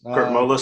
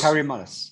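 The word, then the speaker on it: Kary Mullis: Kurt Mullis. Kerry Mullis.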